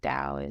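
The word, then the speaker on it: Tao: and Linda kohana the Dao of Equus and Dao is spelled t-a-o so um those books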